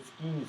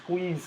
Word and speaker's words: squeeze: he always said the skis theorem it's not pronounced the skis theorem it's the squeeze theorem all right i have nothing but respect